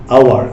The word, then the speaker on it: hour: যেমন ধরো আমি যদি বলি আওয়ার, HOUR, আওয়ার, তো আওয়ার উচ্চারণ করতে গেলে আওয়ার অর্থ কি?